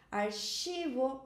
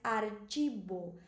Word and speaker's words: archivo: Lembra que no espanhol essa ch se pronúncia como se fosse tch do português e que essa v se pronuncia como b deca.